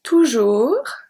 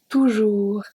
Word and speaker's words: toujours: Toujours, toujours. I don't say toujours, don't say that. Toujours, the S is silent.